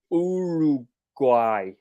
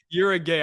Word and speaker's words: Uruguay: It's Uruguay. Ooh, Uruguay. I thought that's what it was, bro. yeah, These I guys think are you're talking about saying it right. you're a gay.